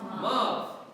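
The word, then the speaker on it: ⲙⲁⲩ: When you see this combined with an alpha, what did we say it's going to be pronounced as? A V. Pronounce this for me, this word. Mav means mother.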